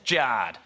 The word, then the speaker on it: Jarred: Jared is spelled J-A-R-R-E-D. Thanks, Mum and Dad, that's Jard.